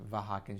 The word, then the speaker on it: Vahakan: state your name and your affiliation okay I'm vakin it's spelled uh my first name is spelled v